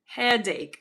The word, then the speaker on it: headache: So yes, CH usually gives a sound ch, but in this case it's k, right? Headache, ache, headache.